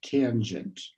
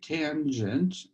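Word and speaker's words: tanh: n h and um americans say that as tange something like that okay so it's the family of functions like cinch and kosh for the hyperbolic sine the hyperbolic cosine so uh we then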